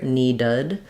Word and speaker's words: needed: question about in needed if we can use awah here needed needed I'd say we probably are a little bit higher than awah but the most important thing is that this is a reduced vowel so I don't want